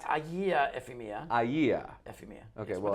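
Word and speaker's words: Agia Efimia: Yes, that's Do I have that pronunciation correct? Agia Ephemia.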